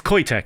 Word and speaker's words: Qoitech: So, it's Qoitech, actually. Qoitech is how you pronounce it, and I should have known that just by looking at the name Qoitech.